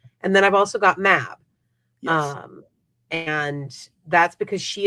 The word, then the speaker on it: Mab: It is so it is one of those things where it anglicizes to Maeve, but it is generally pronounced Mab. Okay. Or Mav.